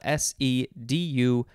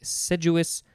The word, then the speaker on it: sedulous: assiduous practice and then sedulis which is spelled s-e-d-u-l-o-u-s implies painstaking and persevering application as in a seduous uh sedulis what did i say before sedulous investigation of the murder all